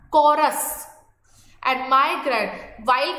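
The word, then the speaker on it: chorus: उसको बोला जाता है कोरस। इट्स नॉट अ चौरस, च सी एच को च नहीं कहोगे, यहाँ पर प्रोनाउंसिएशन है कॉरस।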